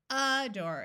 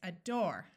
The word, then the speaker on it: adore: Adore, aback, acute, adult. O says in this word, afoot. Did you remember to accent the second syllable? It's not adore, it's adore. It's not aback, it's aback.